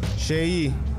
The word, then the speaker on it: Shehyee: Shei. That's how you pronounce it. Shei, not Shi.